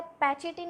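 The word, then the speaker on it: pachytene: अगर हम पैचिटीन का स्पेलिंग देखें, PCHY, ठीक है, ETENE, तो ये क्या पैचिटीन, अपन इसको, इसका प्रोनाउंसिएशन है, ठीक है, अपन इसको प्रोनाउंस करते हैं पैचिटीन।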